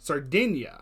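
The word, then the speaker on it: Sardegna: Sardinia. Okay. So it's like bologna.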